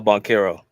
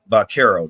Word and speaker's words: Banchero: Paolo Banchero. Banchero.